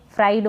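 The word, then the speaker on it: fried: पढ़ेंगे फिर है फ्राइड इसको भी फ्रिड ना पढ़े फ्राइड मतलब तला हुआ फिर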